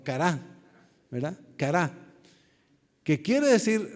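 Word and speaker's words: χαρά: cara así se pronuncia Se podría decir chara pero realmente la pronunciación es cara o cará verdad cará que quiere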